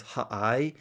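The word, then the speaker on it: הָעַי: Um, and although it is understood at the same time that the city name is simply the the and the ude without the hey in front of it.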